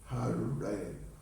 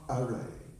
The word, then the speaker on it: Hare: Hare, Hare. No, it's not Are.